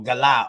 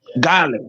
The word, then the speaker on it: Guale: And the word is actually Guele. Is that true? The way we spell it is Guale. And that's Yeah, like actually our Guele. coastline. Yeah, or Gala, or Gal, or Gale.